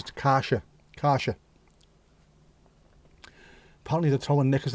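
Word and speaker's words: Kärcher: It's not Karcher, by the way. It says Deutsch. It says Karsha.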